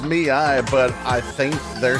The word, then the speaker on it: ME:I: So it's pronounced Miai, but I think they're saying Mai as well.